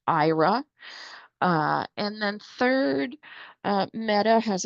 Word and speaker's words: Aira: looking at the slides, IRA is spelled AIRA.